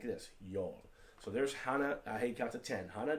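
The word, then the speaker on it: 하나: hana it's pronounced like hana h-o-n-n-a even though it looks like hannah right duel looks like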